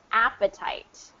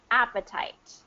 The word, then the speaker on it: appetite: So it's going to get its full pronunciation, appetite. And you'll notice I didn't say appetite because there's two consonants in between those vowels, right? It gets the short pronunciation, appetite.